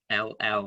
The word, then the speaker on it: parable: It's interesting to actually in Yeats, Yeats's spelling was not always fantastic, and he actually writes parable here, Parabell, I think, parabel to rhyme with shell.